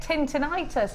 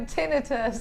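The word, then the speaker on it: tinnitus: That was You don't understand jewelry makers when I I get tintinitis, if that's what it's called. Tintinitis. Oh, tinitus. I've always called it tintinitis because of the way it's spelled. Now I'm going to give you firstly the amethyst.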